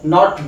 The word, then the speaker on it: know: ए और उ, गो, नॉट गो, इट्स गो, ए और उ पे एंड होगा। नो, इसमें के क्या होता है, साइलेंट होता है, तो ये आपका हो गया नो।